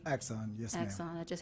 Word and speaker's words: Axon: So the Axon, and I hope I'm pronouncing this right. Axon, yes, ma'am.